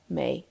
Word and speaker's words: mé: Tá mé. May pronounced like the month of May. Can you now say I am in Irish? Tá mé.